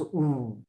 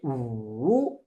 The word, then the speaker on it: 五: Like 五, we should pronounce 五, rainbow 五. But Pinyin say 五. Actually, then pronounce two sound. 五, two sound. Like 五. This is wrong. Actually, this third tone, they are interpret it wrong way. They are put two sound.